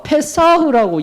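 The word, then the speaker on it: פסח: 히브리어 페사흐라고 이야기를 합니다. 히브리어 페사흐, 이거 쌍시옷 발음이고 페사흐.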